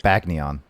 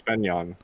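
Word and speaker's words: Begnion: Are you sure it's not pronounced Benyon? It's Chris said it's like Bagnion. I thought. No, it's Benyon.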